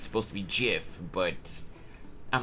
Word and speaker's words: GIF: is it gif or GIF it's confirmed to be gif with a hard G uh because it starts